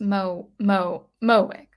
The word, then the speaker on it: Mowick: Mowick says it's pronounced Mowick, like John Wick had a son and named him Mo.